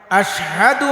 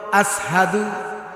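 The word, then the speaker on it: أشهد: বেলাল যখন আজান দেয় আযানের সময় আশহাদু আনা মুহাম্মাদার রাসুলুল্লাহ। এ কথা যখন বলত আশহাদু আন্না মুহাম্মদ রাসুলুল্লাহ বলতে পারতো নাশিনরে সিন উচ্চারণ করত আসহাদু এটা উচ্চারণ হতে হয়ে যেত কিন্তু অনেক সাহাবীরা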